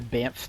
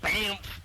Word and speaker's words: Banff: been to banff national why'd you say it like banff national park it's just because that's what it look that's what it looks like no but you don't say bam i do what sorry